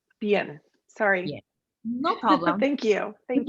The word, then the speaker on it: Bian: Yeah, and the correct pronunciation is Bian. Bian, sorry.